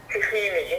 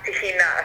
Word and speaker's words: tahina: influence recognize it as tahina so as and what about in israel what do they call it in israel which would be the arabic pronunciation and they call it